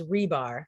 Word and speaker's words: Hribar: name is but my last name is rebar the h is silent oh who knew how